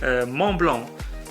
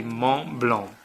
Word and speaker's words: Montblanc: brand so it's not mom Blanc it is not Mont Blanc it is actually mom belong and yes you don't pronounce the T don't pronounce the C as well I'm not trying to